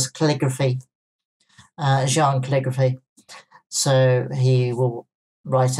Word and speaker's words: Xi'an: It's either Xi'an or Jean, but not Xi'an.